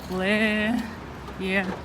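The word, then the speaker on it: Plärrer: Плеер. Плеер. Да? Плеер. Да, R в конце не А читается, в в середине не тоже читается.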